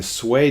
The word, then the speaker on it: Sui: I meant Sui. S-U-I, Sui, Sui, Sui. Let's go to the pronunciation grid.